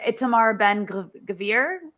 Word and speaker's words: Itamar Ben Gvir: There's also this crazy guy, an Itamar Ben Gvir, is that how you say his name?